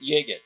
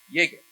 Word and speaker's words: Yigit: That's how you say his last name. Can you dig it? Yigit.